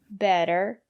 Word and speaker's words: better: Usually, when the letter T is between vowels, we pronounce the letter T as a fast D. Water, better, city. And the reason is because the syllable after the letter T is not stressed.